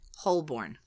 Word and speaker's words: Holborn: really pronounced I will continue to pronounce it hoorn because that is the only thing that makes any sense h o l b o r n hoorn yeah hbor yeah and what is it hun